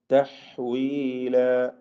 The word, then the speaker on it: تحويلا: തഹ്വീല, ഹാഇന്റെ ഉച്ചാരണം പ്രത്യേകം ശ്രദ്ധിക്കുക. വഖഫ് ചെയ്യുമ്പോൾ അലിഫിന് 2 ഖദറിൽ കൂടുതൽ ദീർഘം വരരുത് എന്നത് പ്രത്യേകം ശ്രദ്ധിക്കേണ്ടതാണ്. 2 ഹറക്കത്തിന്റെ അളവിൽ മാത്രമാണ് ദീർഘിപ്പിക്കേണ്ടത് എന്നർത്ഥം. മദ്ദഇവാദ് തബീഇയാണ്. തഹ്വീല അത്ര മതി. തഹ്വീല എന്ന് കൂടുതൽ നീട്ടിപ്പോവരുത്.